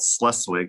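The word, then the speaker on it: Schleswig: german town and west side of iowa called sluswig iowa that's how you pronounce that funny-looking word i was born june 4th 1983.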